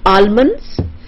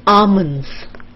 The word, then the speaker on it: almonds: And this is not almonds, it is almonds. The L is almond. L is silent. So it's almonds.